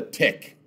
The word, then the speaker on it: TIC: common tenant in common the slim for that is called a tick TI i c tenants in common all